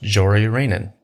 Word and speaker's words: Jori Reijonen: And that's pronounced Jori Reijonen. Jori Reijonen. Doesn't look like it, but that's how you pronounce it.